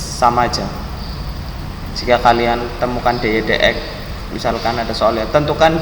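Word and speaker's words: dy/dx: kalian temukan dy dx, ini bacanya dy dx ya, bukan dy per dx.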